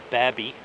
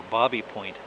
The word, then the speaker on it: Baby Point: But no, it turns out that it actually should be pronounced Babby or Bobby Point, named after the fellow, the lawyer, who bought this land in the early 1800s.